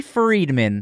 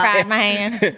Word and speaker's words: Friedman: It's not fried, man.